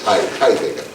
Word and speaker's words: Heidegger: Heidegger, en alemán, la H se aspira y el diptongo ahí es Heidegger.